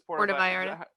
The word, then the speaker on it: Puerto Vallarta: Puerto Vallarta. Yeah, that's how you say it.